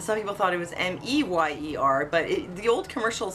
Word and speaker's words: Mayer: And some people thought it was M-E-Y-E-R, but the old commercial is still there. So it's not pronounced Mayer. So it probably was always M-A-Y-E-R, but pronounced Meyer.